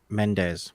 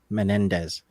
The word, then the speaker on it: Menendez: you should see me trying to pronounce menes which is how I pronounced it instead of Menendez oh yeah well yeah it's one less syllable easier to say my